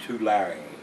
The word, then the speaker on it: Tulare: California to Larry how he's got it in parentheses house pronounced to Larry so the e is pronounced on the end of that tulare California and last one